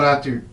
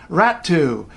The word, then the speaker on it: Räty: she's in China, and her name in Finnish is said Noora Räty. The funny thing about this one is, if you hear English speakers, English sportscasters say her name, there's a pretty good chance they'll say Räty. The funny thing about that is it's not a double T.